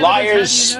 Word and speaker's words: Lyres: Liars. Liars is spelled Lyres. Okay, like the instrument.